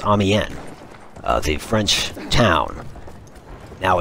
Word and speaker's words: Amiens: You could probably tell that I was struggling on how to pronounce Amiens, the French town. Now, it's spelled with an S on the end, but the S is silent, so I didn't know that.